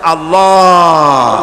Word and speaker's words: আল্লাহ: আল্লাহ এই উচ্চারণটা আমাদের অনেকের হয় না, কেউ বলে না আল্লাহ। আল্লাহ পাকের উচ্চারণটা হচ্ছে, আল্লাহ পাকের নাম উচ্চারণ হচ্ছে আল্লাহ। মুখটা একটু গোল হয়ে যাবে, বলেন আল্লাহ আল্লাহ আল্লাহ।